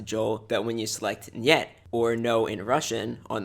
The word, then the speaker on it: niet: incident, or sometimes just is it safe or niet. And yes, before you comment about it, that is how it's pronounced, not het.